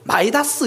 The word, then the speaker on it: 미다스: 원래 이전에는 이 미다스라는 걸 발음을 마이다스 이렇게 불렀거든요.